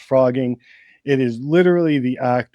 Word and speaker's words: phrogging: And it's pronounced frogging.